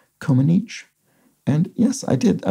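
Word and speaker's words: Comăneci: out that the surname of nadia c-o-m-a-n-e-c-i is pronounced coma niche and yes i did i looked this up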